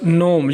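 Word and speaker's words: gnome: और तीसरा है हमारे पास नोम। यहां पर जी साइलेंट है।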